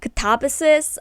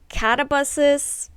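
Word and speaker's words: Katabasis: Um I know there's like a discussion of how this should be pronounced. Um, however, I watched some videos of people that either studied Greek or are actually Greek because this is a word of Greek descent. So, um, they say that it should be pronounced katabases. I know some people say like catabuses.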